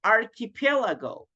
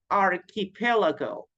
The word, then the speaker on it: archipelago: then we have the archipelago archipelago remember that CH in English sounds like a letter k archipelago architect archipelago it's